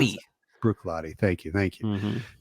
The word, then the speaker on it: Bruichladdich: I always forget how to pronounce Bruichladdich. it. Bruichladdich.